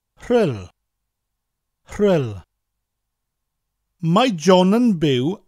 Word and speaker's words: Rhyl: But rather than being two separate letters, the RH constitutes one letter in the Welsh alphabet and has a sound all of its own.